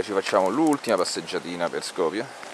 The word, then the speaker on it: Skopje: Skopje, anche se la pronuncia albanese è quella che si avvicina di più al nome romano, perché gli albanesi dicono Skup, il nome romano era Skupi, però Skopje, Kumanovo, ripetiamo, Kumanovo, benissimo, bravissimi.